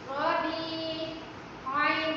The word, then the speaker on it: ربیعٌ: ناک میں آواز چھپا کر پڑھنے کو۔ چلیں ہجے کریں میرے ساتھ اس کے۔ را زبر را، با یا زیر بی، ربی، عین 2 پیش ان، ربیعٌ۔ موسم بہار۔ اب موسم بہار کا عربی میں کیا نام ہے؟